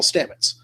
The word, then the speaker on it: Stamets: which means we should probably talk about Paul Stamets you know I all right cool I said